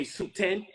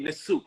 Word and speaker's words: Nesut: If you don't know better, you would say Suten. When you can read the Medu Neter, you say Nesut.